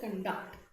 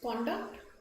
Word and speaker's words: conduct: a strict code of conduct right so this word is pronounced two ways conduct and conduct right so when I